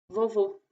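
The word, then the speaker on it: vovô: Entonces es importante porque tenemos palabras que son iguales, son muy parecidas y que cambia todo por la pronunciación. Por ejemplo, bobo significa lo mismo que en español. Uh, y vovo, que significa abuelito. Entonces, ven que ahí hay una diferencia importante. Bobo, vovo, vovo, bobo, vovo.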